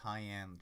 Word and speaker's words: Hyan: Thank you, Hyan. Pronounced Hyan, just like cyan.